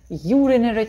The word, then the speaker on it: urinary: Ударение падает только на U. Все остальные гласные, как я уже говорила, читаются невнятно. Поэтому не впадайте в отчаяние. Почему I не читается как I? Да на нее не падает ударение. Она не стоит в сильной позиции. Только U здесь стоит.